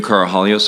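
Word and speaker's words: Karahalios: thank you Mr Mather my name is carahallios I'm counsel for the witness Mr Victor the last name is spelled k-a-r-a-h-a-l-i-o-s uh thank you Mr commissioner for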